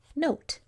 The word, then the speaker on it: note: So what's this word if O is saying O, and E is just sitting there silently at the window? N-O-T. Note.